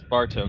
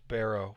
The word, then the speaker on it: Barrow: Okay, so they got murdered by this Bartow guy. I meant Yeah, because of somebody- the ink. Bartow. What's his name? I knew that, Joe. Sorry, I got his name wrong before. It's Barrow.